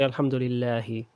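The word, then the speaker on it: الحمد لله: Okay, we don't have to say alhamdulillahi. You can say alhamdulillah.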